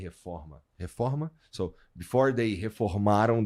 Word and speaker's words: reforma: Because I used to go to Maracanã before it was before there was you know, the reforma. How do you say reforma?